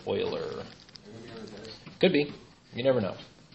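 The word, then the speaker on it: Euler: is German that is Oiler pronounced just like a Houston Oiler could be you never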